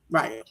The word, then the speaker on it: Rayo: It's Rayo.